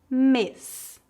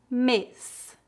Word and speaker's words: mês: a pronúncia é fechada se a letra e tiver um acento agudo a pronúncia é aberta vamos ver alguns exemplos repita depois de mim para praticar pronúncia fechada mês mês bebê bebê éxito éxito